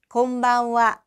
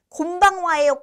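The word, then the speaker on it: こんばんは: 그 다음에 맨 끝에는 와라고 발음하는 하라는 음절이 왔는데 요 와로 발음되는 그 앞에 있는 응은 이응처럼 발음이 돼요. 그래서 곤방와 곤방와 이렇게 발음이 됩니다. 자, 별로 많이 어렵지는 않은데 그래도 혹시나 해서 응 발음 어떻게 곤방와예요?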